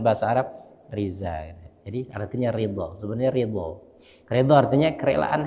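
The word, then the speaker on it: رضا: Reza ya, apa artinya Reza? Reza itu kalau bahasa Arabnya ketulisnya ridho, ya kan? Ridho, ro, dot, kemudian alif, ridho.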